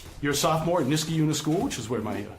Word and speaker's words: Skrebutenas: Skrebutenas. Skrebu like tennis? Yeah. Skrebutenas.